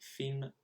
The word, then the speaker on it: films: Now, of course, it's film there. I pronounced the S at the end, which I shouldn't have.